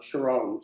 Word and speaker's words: Sharon: It's Cherron, but she says Sharon, yeah.